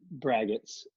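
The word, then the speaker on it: braggot: brackets or braggarts right why do you pronounce it it's expert well I think it's the art Oh ggot or VR AG OTP or something to that effect so I pronounce a bracket okay okay so you've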